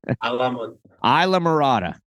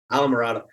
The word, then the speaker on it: Islamorada: Isla Mirada. Isla Mirada.